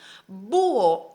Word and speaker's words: búho: para darle la fuerza búho aunque haya está en el medio de la palabra la h no se pronuncia entonces no importa la